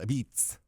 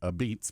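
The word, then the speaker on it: apizza: pizz is pizzer uh or as they're called a beats they're called a beats a p i z Za a but they pronounce it a beats because the old Neapolitan these are Neapolitan pizzas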